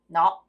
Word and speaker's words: nó: nó. Yeah. It's like a no, like no, but with the like upwards what's that tone?